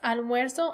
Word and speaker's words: almuerzo: attention to the pronunciation, that with the yo form, almuerzo, you're really hearing that UE stem changer, and that nosotros form, almorzamos, you're not.